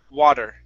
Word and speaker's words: water: It's a hard one to get used to because you cannot think of a D sound. Okay, you have to think of an R sound.